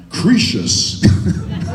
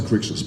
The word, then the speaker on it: Crixus: I remember the first table read-through with Peter Mensa, and he turned to me and he went, "Cretius." That was the first time my name had been mentioned in the table read, and I went, "Really? Is that how it's said?" I hope it's mentioned if it was Cretius. I'm glad it got to Crixus.